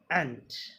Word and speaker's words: ant: एक होता है AUNT, आंट. एक ये है ANT, एंट. Okay, there is difference between AUNT, आंट एंड ANT, एंट.